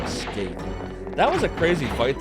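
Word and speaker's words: Skeith: Like Skaith. Yeah, in what universe is S-K-E-I-T-H ever pronounced Skaith?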